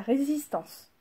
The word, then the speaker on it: résistance: mais ça s'appelle la résistance. Résistance. Pensez à ré comme première syllabe, si ça ne veut pas rentrer dans vos têtes.